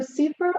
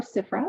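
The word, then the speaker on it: CFRA: a little bit so Supra or cifra if you would like to say that that's fine people pronounce it differently but that stands for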